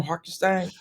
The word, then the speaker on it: Hartenstein: Hartenstein.